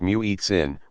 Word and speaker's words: muezzin: The muezzin, pronounced muezzin, makes the call using a form of chanting that can strike the ear as very musical.